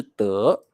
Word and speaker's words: 得: 各位同学特别记得，你一定要念成得，不要念成的，所以你可以说得到就是 get something or obtain something。